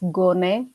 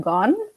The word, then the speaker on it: Gone: By the way, my last name is pronounced as Gone, not Gone.